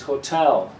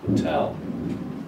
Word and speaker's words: hotel: And the word correct pronunciation is hotel. The second syllable is the strong one. So this little vertical line shows you that the syllable after it is the strong one. So you say hotel, not portal, it's hotel.